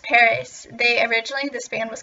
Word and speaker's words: PVRIS: always call this band preus um funny thing it's actually called Paris it's spelled p v r i s um it's actually pronounced Paris they originally this band